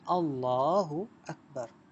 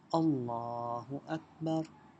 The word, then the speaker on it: اللہ اکبر: بعد ہم کرتے ہیں اللہ اکبر۔ دیکھیں اللہ اکبر، ٹھیک ہے، یہ اس کے تلفظ ہیں۔ کیسے کہا جاتا ہے؟ اللہ اکبر۔ اس کے بعد ہم